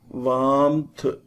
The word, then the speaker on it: warmth: R is silent. Thunder. Warmth.